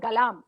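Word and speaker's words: Galarm: Galam is G-A-L-A-R-A-M. Galam. Alam Yes. with a G. Alam with a G is Galam.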